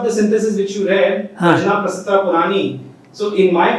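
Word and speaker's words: prajñā: By the way, just one small detail, in Sanskrit you pronounce ja. Okay? In our Indian language we say prajna. But because it's a ja, not a ga. So, this we were taught by Vedalankar, Jagannath ji. He was a Vedalankar and he was an expert in Sanskrit. He told us that this is pronounced prajna.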